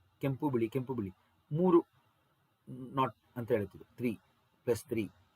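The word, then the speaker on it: knot: 1852 kilometre per hour ಉಚ್ಚಾರಣೆ ನಾಟ್ ಅಂತ ಹೇಳಬೇಕು ಇದನ್ನ ಸೋ ಈ ರೀತಿ ಪವನ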